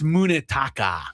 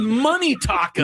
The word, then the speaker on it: Munetaka: I think it's Munetaka. Is it Munetaka? It's spelled with a U, so I'm going to go Munetaka Murakami. But you said Money Taka.